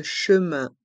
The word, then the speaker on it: chemin: chemins de fer français le S de chemin et de Français sont mués et dans le mot chemin il y a le son un chemin et dans le mot